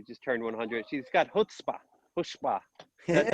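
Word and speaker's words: chutzpah: my grandma who just turned 100 she's got hutzpah that's how you say it how do you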